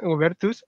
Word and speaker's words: Goebertus: En esta oportunidad nos acompaña eh Juanita Ubertus, así se pronuncia, ¿no?